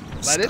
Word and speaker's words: Lutece: Lettuce? Stop. Lutece. Lettuce. It's pronounced lettuce. It's just not spelled that way.